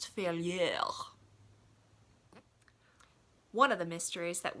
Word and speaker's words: Failure: guy's last name is failure after all though he would tell you that failure is actually a French last name and it's pronounced to fail yell one of the mysteries